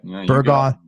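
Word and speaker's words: Burgaw: a brat lived all over until settling in burga did I pronounced that right yeah burga North Carolina he went to the University of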